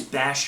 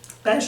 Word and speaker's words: Bash: and flameslinger your favorite bash is a rock dragon he looks cool he has a simple name it rhymes with crash but his moveset is